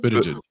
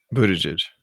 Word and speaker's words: Buttigieg: So it's Buttigieg. Buttigieg. Pete Buttigieg. Buttigieg. It all boils down to the vowels.